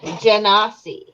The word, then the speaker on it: Genasi: Oh, it's pronounced Genasi.